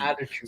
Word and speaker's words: attitude: T the first T we end up turning the T into d attitude so yeah so when